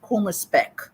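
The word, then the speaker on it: Kummerspeck: there's a German word um that is uh pronounced as Puma spec and it literally translates to grief bacon grief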